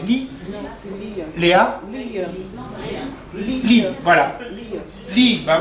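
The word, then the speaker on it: Lea: Et le gars s'appelle Larry, L-E-A, c'est Lee.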